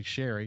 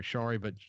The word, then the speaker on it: Chari: I say Sherry. She says she goes by Sherry or Chari, but Chari is the right way to say her name, and that's what I'll call her for the rest of this show.